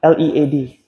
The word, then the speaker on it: lead: Yeah, LEAD. Not lead. Lead is the verb. We're talking about the element now. You pronounce it lead.